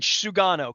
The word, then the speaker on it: Sugano: myself too here in the offseason if um pronounce his name as best you can sugano correct yes Tom Tomy Yuki sugano Tomy Yuki sugana I'm gonna work on that Sugar I'll call